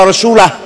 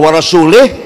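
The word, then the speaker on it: وَرَسُولُهُ: Bacanya wa rasulah. Kalau wa rasulih, Allah tidak melindungi orang musyrik dan tidak melindungi Rasulullah. Jadi kalau wa rasulah, Allah dan Rasulullah.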